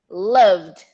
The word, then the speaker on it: loved: do ignore the e ignore the e there's no e include the d in the pronunciation loved loved loved loved i loved the